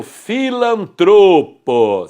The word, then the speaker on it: filantropo: A penúltima sílaba, professor. Então, aquele que pratica atos filantrópicos é o filantropo. Sílaba tônica é o tro.